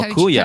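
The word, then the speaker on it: Køge: Koji. Koji. It's like No, Kuya.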